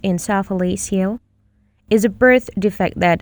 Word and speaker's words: encephalocele: An encephalocele, pronounced encephalocele, is a birth defect that affects the brain.